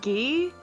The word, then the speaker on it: Guy: Gi? That's Yeah. weird. I don't. If you can read the katakana, his name is actually pronounced gi, but like it's like, why?